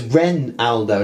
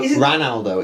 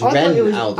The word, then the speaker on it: Renaldo: Yeah, but it's spelled with an E, so it's Renaldo, not Ranaldo. It's Renaldo.